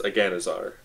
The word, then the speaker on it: Aganazar: It's one of the hardest ones to pronounce, so it's Aganazar.